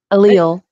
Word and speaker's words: allele: Allele. Elias. Allele. Aaliyah? Allele. Allele? Allele, yeah. All right. So the S is silent.